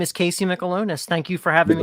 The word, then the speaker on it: Mikalonis: right now okay yeah my name is casey michelonis thank you for having me all right god that's too many syllables alone yeah yeah okay that's an easy